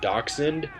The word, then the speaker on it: Dachshund: Her name is Bella, and I actually call her Bella the Badger because if you actually dissect the word dachshund, it's actually a German word, and it actually ties into my gamer tag.